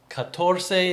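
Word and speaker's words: catorce: always hard to get so I learned katorse is 14 cuarenta is 40. right that's the right way to say it but we were in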